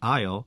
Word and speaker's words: aisle: Another example can be found in the word aisle, where S is also silent. This word originates from Old French.